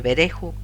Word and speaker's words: Berejú: He puesto un acento en el nombre de Berejú, puesto que se me dio como ver, que suena en inglés como fu, a, que suena como e, y ho, que suena como u en inglés, fonéticamente who o quién.